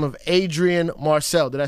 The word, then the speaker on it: Adrian Marcel: He goes by the name of Adrian Marcel.